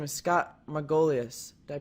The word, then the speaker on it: Scott Margolius: His name is Scott Margolius. Did I pronounce that correct?